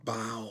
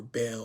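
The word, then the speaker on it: Baal: with molec and and our bowel or Bell or some people they have different variations of of how to pronounce his name but I'll just say Bell um they would take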